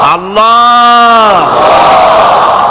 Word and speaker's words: আল্লাহ: আল্লাহ মুখটা একটু গোল হয়ে যাবে বলেন আল্লাহ আল্লাহ সুবহানাল্লাহ পৃথিবীতে বিভিন্ন জাতি